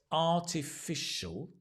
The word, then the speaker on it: artificial: in a different color so it's artificial notice the sh although it looks like a s you can see he it's a sh a sh sound and it's a a artificial when you practice this